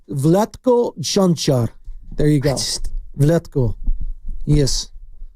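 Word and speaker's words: Vlatko Čančar: No, it's Vletco Junar.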